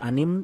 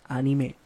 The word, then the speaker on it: anime: Itu nggak boleh anim, nggak boleh animasi, nggak boleh apa, harus anime gitu. Oh gitu. Harus anime. Anime. Sesuai pelafalan penyebutan orang Jepang nyebut anim itu anime. Anime. Kan A I U E O ya, konsonan vokalnya gitu.